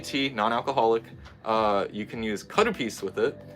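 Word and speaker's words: カルピス: non-alcoholic, you can use karupis with it. Calpico is what they call it in America. They totally butchered the pronunciation and the spelling. Don't know how, but they did.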